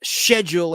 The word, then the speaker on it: schedule: And it's schedule in England, not schedule, the way they pronounce the word schedule. It's schedule.